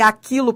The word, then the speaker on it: aquilo: O Q com U formam dígrafo, que você não pronuncia o U. Você entendeu a diferença de aquilo para tranquilo? Você entendeu? Esse U é pronunciado, ele é uma semivogal. Mas esse U aqui não é pronunciado, ele forma um dígrafo.